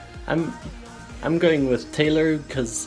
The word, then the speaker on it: Taylor: were confused on the how to how to pronounce the the name and I'm going with Taylor because it's belt Taylor and not Tyler so there you go comments section so let's